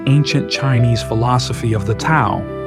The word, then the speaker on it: Tao: That's why Dudism has a lot in common with the ancient Chinese philosophy of the Tao, spelled T AO, pronounced like Dao.